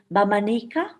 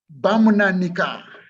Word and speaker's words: Bamunanika: me, but forgive me, it's called Bamanika. Fred, is that correct? Bamunanika in Luero.